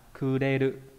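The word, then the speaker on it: 暮れる: Đọc là kuderu.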